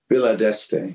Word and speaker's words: Villa d'Este: So it's not like you weren't well-traveled or worldly, but like Pebble Beach and I don't know how to pronounce exactly. Villa, what is it? Villa d'Este, yeah.